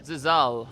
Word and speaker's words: Zilzal: How did you say we're going to pronounce it again? Zilzal. Zilzal. Yeah, Zilzal. Zilzal. Yes. All right, it's Zilzal.